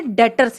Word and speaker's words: debtors: जी हाँ, स्पेलिंग है इसकी DEBTORS, लेकिन बोलते हम इसे डेटर्स हैं। डेटर्स ध्यान रखिएगा।